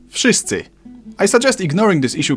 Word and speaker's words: wszyscy: W in wszyscy should sound like V.